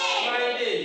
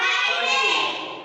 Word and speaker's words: Friday: Friday। শুক্রবার ইংরেজি Friday। এই যে দেখো, এক উপরের দাঁত নিচের ঠোঁট, এখন উচ্চারণ কিভাবে হবে? উপরের দাঁত নিচের ঠোঁট, তাহলে কিভাবে হবে? Friday।